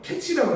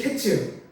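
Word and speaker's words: קֵץ: 끝은 히브리어로 캐치라고 합니다. 자, 카이츠, 캐츠. 좀 비슷한 말이죠.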